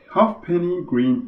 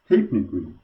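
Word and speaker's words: Halfpenny Green: service stephanie green information yep it turns out half penny green is actually pronounced hypnique apparently there used to be an old british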